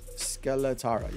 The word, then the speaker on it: Skeletara: You have the Absolute Zero, Triple Threat, Skeletara, I guess. Skeletara. Yeah, that's how you pronounce it.